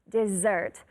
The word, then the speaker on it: dessert: this is called dessert dessert the two S's sound like a Zed dessert careful it is not